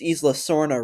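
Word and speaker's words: Isla Sorna: Oh, thankfully he pronounced Ela Sorna right because it's pron that's how it's pronounced.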